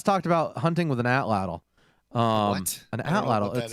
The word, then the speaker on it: atlatl: Although she has talked about hunting with an atlatl.